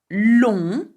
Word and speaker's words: long: you will notice that we do not pronounce the G for long or the T for pont. Okay, so be very careful with this, okay?